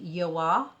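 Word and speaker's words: Joah: right next product is the yoah pronounced correctly or the joa concealer available at cvs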